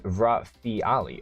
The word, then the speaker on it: Rafaeli: is the is the rafaeli the rafaeli okay pronounced in three segments rafi ali oh it's the rafaeli